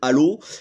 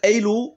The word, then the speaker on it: Halo: Alors tout de suite, c'est mieux de le prononcer en anglais parce qu'en français ça donne Halo, et Halo ça fait penser à Nabila, et ça c'est pas cool. Donc Halo, voilà comment va se décomposer cette vidéo.